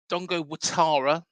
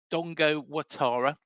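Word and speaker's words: Dango Ouattara: you know if he's unable to play uh Dongo watara um that's how it's pronounced it's that it's actually spelled Dongo orara um but it's Dongo watara um so anybody wants correct pronunciation I think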